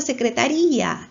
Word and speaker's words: secretaría: ¿Dónde tiene la mayor fuerza secretaría? En la sílaba ri.